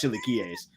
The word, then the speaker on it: chilaquiles: I can't pronounce these chilaquiles.